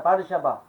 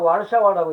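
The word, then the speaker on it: Warszawa: 바르샤바. 근데 영어로 보고서 영어식으로 미국식으로 쓰면 하려면 와르샤와라고 읽어야 돼. 근데 거기 바르샤바라고 그래.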